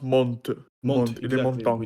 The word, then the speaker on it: Mont: Am I correct that it's pronounced Mont?